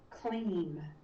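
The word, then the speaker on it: klim: And one of them, for example, is clean. So it's spelled K-L-I-M, but it's spelled more like K-L-E-E-M, clean.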